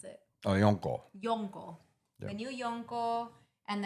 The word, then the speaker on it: Yonko: How do you pronounce it? Oh, Yonko.